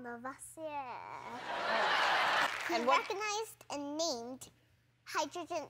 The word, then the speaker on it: Lavoisier: But I think I need to pronounce it like this. It's French. Antoine Lavoisier.